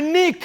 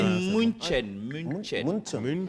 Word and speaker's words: München: Chez nous, on dit Munich. Est-ce que je suis dans vocalisme? Non, à Miami, il faut bien prononcer les choses. Munich, c'est Ouais. bon? On dit München.